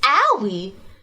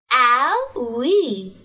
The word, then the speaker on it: Owie: like to introduce myself my name is owie pronounce it with me i'll we i'm a new intern